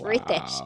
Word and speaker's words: Ritesh: And you know how to So pronounce his name. I just added an H to it. Ritesh. It's Ritesh.